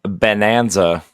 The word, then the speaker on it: Bananza: Donkey Kong uh Bonanza spelled like banana, not like bonanza.